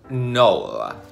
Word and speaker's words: Noel: Their name is pronounced like Noel, quote, K-N-O-L-L, and not like the Christmas song.